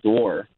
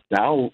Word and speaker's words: dour: pronunciation is it's door is door like d o o r all right Pauling will